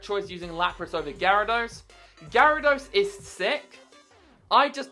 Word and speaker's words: Gyarados: or Pokemon challenges himself would say Gyarados even though he pronounces it jaros yeah I'm calling you